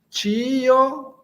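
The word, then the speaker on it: ĉio: Tio. Esse chapéu tem um som de t c h. Tio, kio ekzistas.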